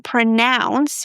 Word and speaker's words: pronounce: Now, in the verb form pronounce, the O U is pronounced as ow as in now.